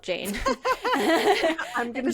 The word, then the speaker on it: Jane Avril: But anyway, her name is Jeanne. But I'm going to say Jane because it's spelled Jane.